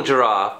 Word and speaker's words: giraffe: A beautiful giraffe with lovely long locks of hair. And giraffe has got the soft G in also.